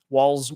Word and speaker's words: Walz: pronounced the same way walls wall walls yep yep so we would the easiest way to say is you pronounce it like Walls w l LS because